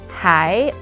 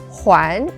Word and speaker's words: 还: And today we're going to talk about the character mind map for the word hai or huán. So two different pronunciations with different meanings.